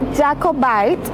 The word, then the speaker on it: Jacobite: lo pronuncié mal, claro, en español se escribe como Jacobite, pero en inglés se pronuncia Jacobite, para que lo tengan en cuenta.